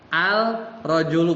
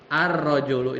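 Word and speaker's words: الرجل: Kalau ini kan dibacanya bukan al-rajulu, bukan kan? Tapi masuk. Nanti ada namanya. Ar-rajulu ini baca.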